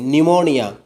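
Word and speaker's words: pneumonia: അപ്പോൾ ഒരു വേർഡിൻ്റെ തുടക്കത്തിൽ പി എൻ അല്ലെങ്കിൽ പി എസ് വന്നു കഴിഞ്ഞാൽ അവിടെ പ സൗണ്ട് സൈലൻ്റ് ആയിരിക്കും. ന്യൂമോണിയ, സാം, സിഡോണിം, ന്യൂമാറ്റിക്, സൈക്കോളജി, ഇതിലൊക്കെ പിന്നെ പി എന്നും പി എസുമാണ് തുടക്കത്തിൽ വരുന്നത്.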